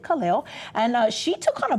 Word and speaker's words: Kaleo: And, you look at the word and you think, okay, maybe they pronounce it differently, but she pronounced it Kaleo.